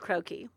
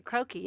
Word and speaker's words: croquis: don't know why don't we talk about the croaky croaky and how do you spell it so everybody knows CR o qu is